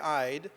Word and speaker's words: Eid: can tell um th this is my name ID or we'd say in Arabic and that's how you that's how you say it now I don't know